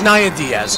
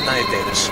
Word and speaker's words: Naya Diaz: put on that serve have I been saying her name wrong this entire time I think you have I have and I apologize for those listening it is Naya Diaz it is not Naya Davis I apologize that means